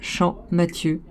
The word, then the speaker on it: Champmathieu: La prononciation du pays fait Champ. On l'appelle Champmathieu.